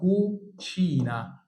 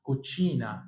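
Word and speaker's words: cucina: كتب اللي احنا قلناه هنا هنطق كو لكن هنا هنطق ت شين يبقى اسمها كوتشينا كوتشينا كوتشينا يعني المطبخ عشان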